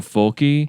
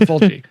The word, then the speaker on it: Fulci: Let's go down this because I've been educating myself recently on Fulci. Fulci. Yeah, Fulci. I think it just depends on if you are or aren't from Italy, how you say it.